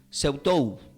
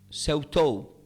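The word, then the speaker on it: σεαυτοῦ: Investigando qué significa esta palabra de ti mismo del griego, se pronuncia como Seutou. S-E-A-U-T-O-U. Seutou. Que se debe pronunciar como, pueden, quizás digan, Seutou. Seutou.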